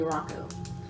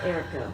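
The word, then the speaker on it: Aerakoa: found and that is spelled a e r a k o a Rocco or Erica however you want to say that that's good um Erica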